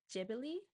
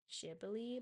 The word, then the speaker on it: Ghibli: know some people say Gibli, some people say Jibli. From what I heard of the original Japanese pronunciation, the closest that comes to it, although it's not perfect, is Jibli, but if I'm still